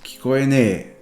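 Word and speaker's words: 聞こえない: And the kikoenai becomes kikoenee.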